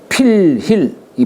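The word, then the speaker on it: 佛肸: 진나라 조치 가신인 필힐이 필힐이 사람 이름이에요. 필힐 불자를 필이라고 읽어요.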